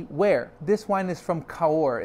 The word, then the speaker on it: Cahors: this wine is from kaur it's from the south of france southwest part of france south of bordeaux the region is called again color c-a-h-o-r-s with a silent s okay that's the where